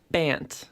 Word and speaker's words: Bant: Schultz just said is Bant. Right. B-A-N-T. That's not Right. a mispronunciation.